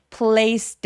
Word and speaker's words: placed: placed it. 자, place 얘 소리 S 소리로 끝났죠. 성대가 울리지 않으니까 얘도 마찬가지로 그래서 placed라고 T 소리로 내주셔야 됩니다.